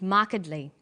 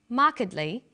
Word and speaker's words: markedly: come across longer words you have to learn which syllable to stress for example we say intelligent increasing and markedly notice that when you